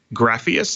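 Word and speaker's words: Grafeas: recently announced that they're working together on something, Grapheus, I believe. What is that? Did I pronounce it correctly?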